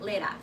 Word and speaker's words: Leda: Thank you for telling me how to pronounce it. Leda.